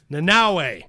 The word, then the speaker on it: Nanaue: I am Nanaue. Okay. And I literally only have an idea of the pronunciation because of the new Suicide Squad.